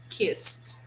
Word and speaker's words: kissed: do not pronounce like the that we don't pronounce the way we write no here we say kissed kiss g sound okay so for example yesterday